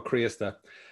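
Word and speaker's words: Críosta: So it's Criosta, and it's the accent on the I that kills everybody.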